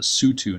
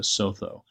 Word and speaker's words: Sotho: So, and the single O is pronounced like a double O, at least in Southern African languages that I'm acquainted with. So, Moshoeshoe. Anyway, pronunciation doesn't really matter, right? This is why it's also called the Sutu, not the Sotho, and why the country